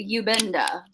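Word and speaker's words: iubenda: i do not i you benda are you bender it's a privacy i would say it's a ubenda and there's a silent letter in there okay you like that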